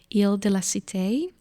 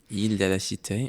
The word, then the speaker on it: Île de la Cité: Paris, on an island on the Seine called Île de la Cité. Île de la Cité, yeah. Did I pronounce that correctly?